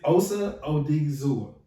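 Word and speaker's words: Osa Odighizuwa: I'm gonna try to pronounce his name. Yeah, I'm not gonna butcher it. I promise. It's Osa Odigizua.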